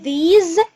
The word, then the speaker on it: these: اسمها these مش these، يعني الاس دي هنطقها كأنها زد.